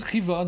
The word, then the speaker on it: Khiva: de jeu de mot il paraît que ça se prononce Riva nous dit-on sur le chat la vache trop tard